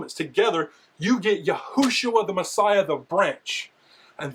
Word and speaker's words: Yehoshua: But, it's not Yeshua, it's Yehoshua. So, we know that it's